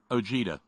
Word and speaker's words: Ojeda: Donald Trump oh yeah are we talking about Ojeda OG de it's pretty here up here it's pronounced og de here I'm sorry it's probably